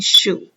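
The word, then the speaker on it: Xu: I just told people if you remember you're wearing a shoe you remember my last name you can just call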